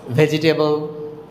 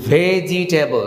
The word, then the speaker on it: vegetable: এই বোনাসটা হচ্ছে ভেজিটেবল, স্বাস্থ্যের জন্য উপকার, সবাই বলে ভেজিটেবল খাওয়া, কিন্তু ভেজিটেবল আমরা এখানে 4টা সিলেবল, ভেজিটেবল, সিলেবল কমাতে হবে, এটা উচ্চারণ হবে ভেজটাবল।